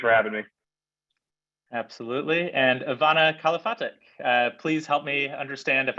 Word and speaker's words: Ivana Kalafatic: And Ivana Kalafatic, please help me understand if I pronounced your name correctly, and also if you